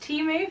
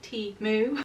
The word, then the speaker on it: Temu: am teaming up with timu for this portion of today's video and yes guys I did learn how to pronounce it properly it is tea moo so timu was appearing